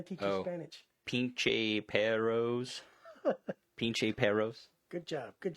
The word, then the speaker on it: perros: You got to roll your R's. That's what I did. Perros. There you go. Yeah, that's good. How many times do you make the R sound? Because there's only 2 R's. Twice. Perros.